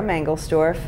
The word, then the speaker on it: Mangelsdorf: Give me your name and spell it. My name is Sarah Mangelsdorf.